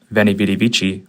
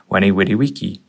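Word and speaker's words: Veni, vidi, vici: For example, Julius Caesar or Ulace Kaiser's famous quote of Venivy Vidivichi was actually pronounced as Wy Wittywiki. In Latin, a V was a W, C's were hard, and J was a Y as a couple examples.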